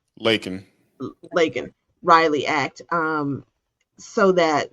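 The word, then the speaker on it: Laken: So they came up with this Lincoln Riley Act. Did I say her name right? Lakin.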